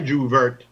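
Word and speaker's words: J'ouvert: And they have the Jouvert. What a Juvert? It's Juve. I think the word came from the French groove.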